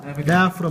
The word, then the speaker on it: diaphragm: This is the diaphragm muscle. Diaphragm. Yeah. No G. G is silent.